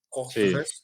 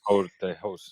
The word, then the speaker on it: Courteheuse: se llama Roberto Courteheuse, no sé cómo se pronuncia, Sí, Courteheuse, Courteheuse, sí.